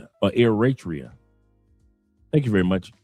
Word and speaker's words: Eritrea: He said he's pronounced or Eratria. Thank you very much. Eratrian.